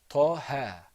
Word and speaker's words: Taha: Do you see any squiggly marks on top of those 2 letters? No, nothing. Not at all. So that's why there's no med here. So this is pronounced, repeat after me, Taha. Taha. One more time, repeat after me, Taha. Taha. Taha. Taha. So there wasn't any elongating sound.